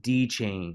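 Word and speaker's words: DXChain: a massive, massive dump, is DeChain. I don't know why the X is silent, but it is.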